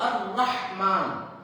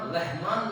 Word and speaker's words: الرحمن: تو الرحمن, اگر ہم رحمان لوگ بول رہے, رحمان بھی بہت سارے لوگوں کا نام, رحمان اگر ہم بول رہے تو غلط ہے. رحمان نہیں ہے, رحمان الرحیم.